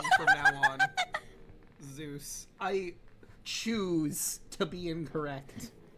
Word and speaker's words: Zeus: Uh, that I found out that Zeus is actually pronounced Zus in current Greek.